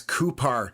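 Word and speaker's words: Cupar: So we are going to, it's Coupar. So I pronounced that wrong, but we all know where we are at this point, I hope.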